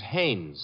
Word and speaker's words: Haynes: No, not Hines. Haynes.